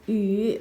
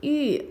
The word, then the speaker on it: 与: Now let's write 语 This is a polyphone. It's pronounced as 语 or 玉 according to different context.